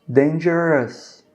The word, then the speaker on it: dangerous: Quando vocês tiverem palavras que acabam com isso aqui, ó. Por exemplo, dangerous, que é perigoso, né? Que a gente escreve dangerous. A gente só pronuncia us, tá bom?